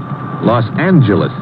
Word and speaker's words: Los Angeles: to California Los Angeles correction Los Angeles huh yeah soft G it's official now so